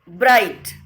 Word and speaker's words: bright: Next one, ब्राइट. इन ब्राइट GH is silent.